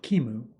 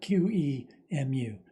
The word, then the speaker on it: QEMU: We're going to be using an emulator called Qemu, at least. That's how I pronounce it. Apparently the official pronunciation is something like Qemu, but that's too much for me.